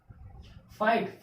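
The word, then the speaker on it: fight: फाइट, इसमें क्या है, वर्ड के लास्ट में GHT एक साथ आया, इसमें से GH क्या हो जाएगा, साइलेंट हो जाएगा। यानी कि इस वर्ड का प्रोनाउंसिएशन करते समय GH लेटर्स का प्रोनाउंसिएशन नहीं होना चाहिए।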